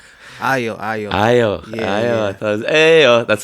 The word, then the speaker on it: Ayo: I'm like, right under my name I say pronounce IO. Don't butcher it.